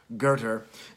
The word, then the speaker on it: Goethe: It's a quote that he grabs, and he quotes Goethe. Goethe spelled Goethe, pronounced Goethe.